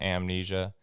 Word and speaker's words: Salmnesia: words but it is a playoff words generational amnesia and salmon uh so we're calling it amnesia which is spelled s-a-l-m-n-e-s-i-a it's amnesia and that's the website